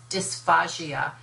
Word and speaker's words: dysphagia: One is dysphagia, spelled with the P-H-A-G-A, D-Y-S, P-H-A-G-A, dysphagia, which is a difficulty in swallowing, versus dysphagia, which is dysphasia, dysphagia.